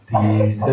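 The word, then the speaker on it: tīrtha: Bhavad Vidha Bhagavata Tirtha Bhuta. Very clear pronunciation. Tir, again tir all long.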